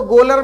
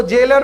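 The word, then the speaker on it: gaoler: जेलर जो होता है, इसको गोलर मत पढ़ लीजिएगा कि हॉकी और फुटबॉल का गोलर है, इसको जेलर पढ़ा जाता है।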